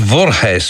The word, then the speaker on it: Voorhees: it's from uh well i suppose it must be pronounced vorjes or something like that i mean it's v double r h double e s which sounds dutch although i suspect the